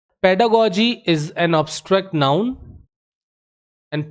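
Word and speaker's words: pedagogy: बाल मनोविज्ञान ठीक है तो पेडागोजी गगी नहीं पढ़ते हैं इसको याद रखिएगा पेडागोजी पढ़ते हैं पेडागोजी से एडजेक्टिव बना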